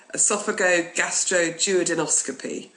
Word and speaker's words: esophagogastroduodenoscopy: Well, you say the word the same way you would break it down. So let's break it down. esophago, gastro, duodenoscopy.